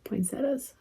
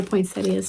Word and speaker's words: poinsettia: I bet that would be really pretty if you did it in pinks and reds, because there's pink poinsettias or poinsettias, depending on how you choose to pronounce it.